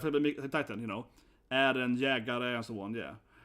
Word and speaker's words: Jägare: Like Titan, Eren, Jägare, and so on. Yeah. That's how it's pronounced, It's not Jäger, right?